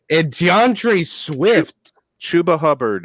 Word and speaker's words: Chuba Hubbard: Right now, your 2 rushing leaders is Chubba Hubbard and DeAndre Swift. Chuba Hubbard is the correct pronunciation.